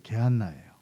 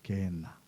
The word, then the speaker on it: 게헨나: 예수님께서 말씀하셨던 지옥, 이것은 이제 게한나예요. 그래서 정확히 발음하면 게엔나예요. 게엔나.